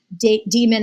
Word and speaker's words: daemon: I don't say daemon because it's like spelled that way, but I know probably the proper pronunciation is demon, but like an animal, protects them.